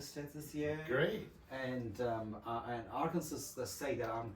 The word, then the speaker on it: Arkansas: It looks like it's Arkansas, Yes. but the way they pronounce it there is Arkansas.